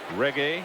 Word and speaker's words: reggae: big reggae music guy reggae yes bob marley is his father why are you guys laughing i knew how to say it too ricky said it like you thought it was italian food some of his songs